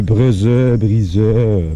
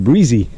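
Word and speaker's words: Bresee: Et petite rectification, j'ai dit hier, je ne savais pas comment prononcer. C'était-tu Breezeux, parce que c'est B-R-E-S-E-E. C'est Breezy.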